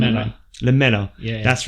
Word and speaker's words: Lamela: Lamela? Am I saying Lamela. Lamela.